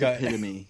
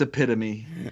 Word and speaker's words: epitome: It's epitome. I probably didn't pronounce it right, huh? No, It's epitome.